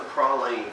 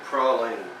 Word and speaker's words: praline: I tell you what, it has a pecan praline flavor to it. Now, that is the correct pronunciation of the words pecan and praline.